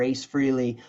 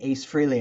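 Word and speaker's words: Frehley: Tokyo MotorFist did three shows opening up for Ace Freely um Ace Frey Ace Freely I know people say you say his name wrong just disclaimer I've been saying Ace Freely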